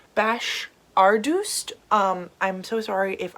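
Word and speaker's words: Bashardoust: serpent thorne by melissa i believe it's pronounced bash ardust um i'm so sorry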